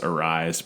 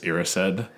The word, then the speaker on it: Erised: And I've heard people read the book and pronounce it as Arised, but then whenever you watch the film, Dumbledore pronounces it as Erised.